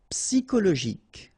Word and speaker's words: psychologique: Okay, so ic, and then Y is pronounced like I, psy, and then it's an exception here because normally we should pronounce it sho, okay, but then we pronounce it ko.